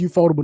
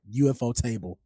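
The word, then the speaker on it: ufotable: out to eable and it's pronounced eup fodable not not UFO table oh that's czy I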